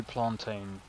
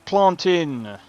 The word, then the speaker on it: plantain: You did not just say plantain. Yeah, that's not how you pronounce it. It's plantin. Not plantin. You're English. It's not English. That's even how the Jamaicans say it.